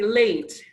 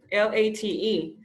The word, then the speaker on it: late: It's, for example, you say late, tarde, L-A-T-E. It's a long vowel sound. Cuando tenemos consonante A, consonante E, la pronunciación de la A se convierte A. Y la E al final es silenciosa.